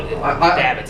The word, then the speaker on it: Davids: Yeah, no, Davids is how you it's say just it.